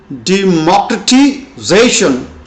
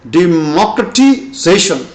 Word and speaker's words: democratization: This is spoken like this: democratization. Primary stress is on zation and secondary is on mocracy. So the pronunciation is democratization.